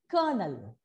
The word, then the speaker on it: colonel: No, colonel. It is pronounced as colonel.